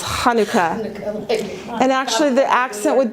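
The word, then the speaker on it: חנוכה: you say it and I pronounce things with the CH sound because it's it's in the back of your throat being raised in a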